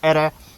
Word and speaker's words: iri: Actually, there are signs that the actual word might have been ere. So in this video, I'm going to pronounce this as ere.